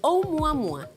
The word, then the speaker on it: Oumuamua: Es hawaiano. A ver. A mí también me costó un poco, pero es Oumuamua.